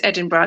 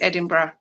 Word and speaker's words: Edinburgh: Okay, what is Edinburgh?